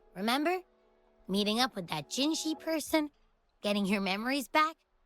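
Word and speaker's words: Jinhsi: The she sound is just makes more sense if you spell it with S-H. But it's the opposite.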